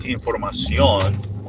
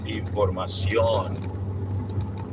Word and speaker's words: información: There are some rules that we don't want to get into that, but the intonation, the stress, the accent mark goes into there, like the O.